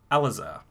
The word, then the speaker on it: Alazar: We're actually going to punch in on you, Alazar. First things first, did I pronounce that correctly?